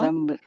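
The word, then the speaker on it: ذَنْب: So they don't pronounce zan, they pronounce it as zam with a mim, although it's written with a nun, just like the word mimbar.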